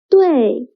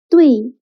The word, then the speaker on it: 对: Wei is written as U, I in syllable. The middle letter is omitted. So when pronouncing Wei, you should add the sound in the middle. For example, 对, not 对.